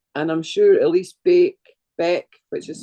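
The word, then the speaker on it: Baek: And I'm sure Elise Beck Beck, which is spelled B A E K, Elise Beck, she's got free downloads on her website as well.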